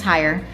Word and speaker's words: Heyer: My my most challenging trail was cutting the trail that I higher anxiety. I named it. Yeah. Well, our last name is Higher and uh so it's kind of a play on words there.